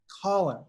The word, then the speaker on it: Collun: column's my first name how do you say your first name one colin all right just just like just like just like hey who are you calling gotcha okay all right